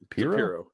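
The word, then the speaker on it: Piero: Is that Pero? Piro, yeah. Like Janine Piro.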